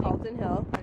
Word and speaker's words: Calton Hill: Yep, that's how you pronounce it. Calton Hill.